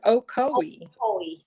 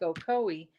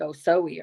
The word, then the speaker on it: Ocoee: and they were like ocoee and i was like okay i can see how that is and i thought it was like oh zoe or something or so and so it's ocoee and now i live